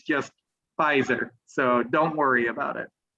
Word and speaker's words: Pfizer: Your pronunciation is really good overall, but the one word that you messed up a couple times, it's not Pfizer vaccine, it's just Pfizer.